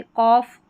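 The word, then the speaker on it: cough: इनफ है, टफ है। सभी में फ है। जी एच लिखा गया है फ की ध्वनि के लिए। रफ है। कॉफ कॉफ और यह है लाफ।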